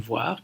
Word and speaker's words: voire: Ça se complique évidemment avec l'adverbe voir, qui se prononce de la même manière, mais qui s'écrit avec un E à la fin.